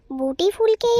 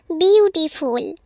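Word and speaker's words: beautiful: এইটার উত্তর হবে বুটিফুল বুটিফুলকেই আমরা সুন্দর ফুল বলে থাকি হ্যাঁ পুটি তুমি উত্তরটা ঠিক বলেছ কিন্তু উচ্চারণটা বুটিফুল নয় উচ্চারণ হবে বিউটিফুল এবার বলতো দেখি কোন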